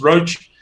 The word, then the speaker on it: Roche: It's Roche as in stone or rock.